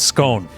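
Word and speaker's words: Skåne: I'm not sure how to pronounce the A. It has one of A those. scone. Scone County, Sweden. Thank you, Oliver.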